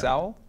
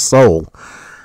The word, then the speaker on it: Sowell: Thomas Sowell? I don't know that. He's Because you're pronouncing it wrong. Thomas Sowell.